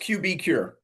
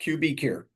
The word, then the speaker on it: QBcure: Yeah, it's just QBcure. So Okay, I thought QB so. like QuickBooks, QBcure.